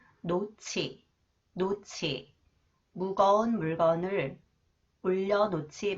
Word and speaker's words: 놓지: cons h it combined with h It is pronounced AS sound 노치 노치 무거운 물건을 올려 놓지 마세요 무거운 물건을